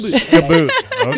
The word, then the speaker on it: Skboot: Skboot. Okay. That's okay. Got it. Skboot. It doesn't really matter. I just have to give it the Aussie pronunciation. Yeah, exactly. Okay. It's like ski boot without an I.